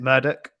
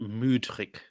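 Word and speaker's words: Mudryk: Is it Murdoch? Murdoch. Apparently you're supposed to pronounce it Mudrik. Okay, I'm not going to say. Yeah, so okay. apparently it's I've been pronouncing it Mudrik. But apparently it's like Mood.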